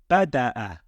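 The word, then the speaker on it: بدأ: And how would we pronounce this word? We would pronounce it as bada'a.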